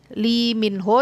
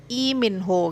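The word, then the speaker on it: 이민호: Lee Min Ho itu sebenarnya bacanya I Min Ho gitu ya.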